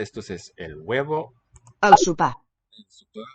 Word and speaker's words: sopar: La dona prepara el sopar. El sopar. This Sopar. O seems to raise to an U. La dona prepara el sopar. Sopar. And there's also a tonal upstep there. That's the accented syllable here.